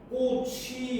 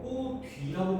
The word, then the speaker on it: 꽃 위: 꽃 위 얘가 만약에 위가 형식 형태소라면 여기에 있는 치이 그대로 연돼서 꼬취 이렇게 나와야 돼요. 그지? 근데 우리는 이걸 꼬취라고 발음 안 하고 꼬뒤라고 발음해. 왜냐? 위가 실질 형태소니까 모음으로 시작한다 하더라고.